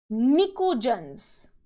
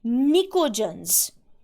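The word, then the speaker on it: pnictogens: is also known as nicodens the p used here is silent it is known as nicodens group number 16 the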